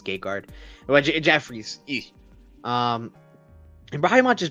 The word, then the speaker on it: Gegard: It's Gegard.